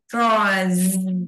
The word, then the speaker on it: draws: Draws. Wow. Đó, phải xì ra. Cái chữ sờ này phải đọc là z.